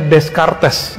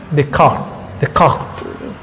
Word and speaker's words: Descartes: Ada orang bacanya Descartes, itu kurang pas ya. Descartes itu spelling Indonesia, ya. Yang benar Descartes. Agak sulit juga sih pakai R-nya itu, R-nya ghain. Descartes.